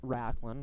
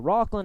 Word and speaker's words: Rocklin: dad of rocklin hay we've been pronouncing it racklin well i've been pronouncing it rocklin and these guys have followed suits so rocklin hey scoring his first goal